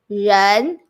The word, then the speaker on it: 人: And it is pronounced 人, 日, 恩, 人.